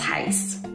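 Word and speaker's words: reais: from the us dollar to heel and if it's plural it's heist just fyi now you know if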